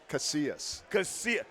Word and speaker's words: Casillas: Casillas.